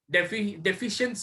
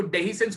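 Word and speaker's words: dehiscence: सर, डिफरेंस of anther का मतलब डेफिशिएंस, डेफिशिएंस कहते हैं उसको डेहिसेंस पढ़ते।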